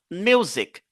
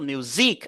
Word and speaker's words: music: l'apostrophe n'oubliez pas ça music music on ne va pas dire musicque non on va pas dire musique on va pas dire